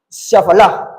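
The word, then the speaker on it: שפל: texto bíblico Amén humillación en hebreo quiere decir shal humillación en hebreo el original en hebreo humillación quiere decir shaal shaf shal shaal quiere decir humillación y y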